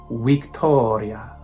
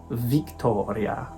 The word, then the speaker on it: Victoria: things to remember are there's no V sound it's a wha like the English letter w weak Toria not Victoria C's are always hard